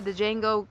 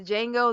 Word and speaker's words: Django: then he was like the django that but the d is silent so i was like